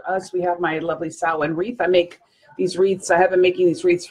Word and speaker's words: Samhain: ma che i N and it's it's pretty pronounced like this sow in or some people say salween but I studied Gaelic for a little while